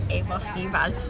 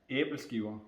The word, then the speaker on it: Æbleskiver: Well, they're famous for their Avoskivas. How do you pronounce that? Where is that? Where is that on the thing? This dessert here is called an Aberskiva.